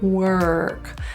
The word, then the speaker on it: work: r it's our place work the issue in this word is always the r that R is curled so feel the tongue tip curl back were work the O is pronounced kind of like an e think of it like w-e-r-k work first the ER in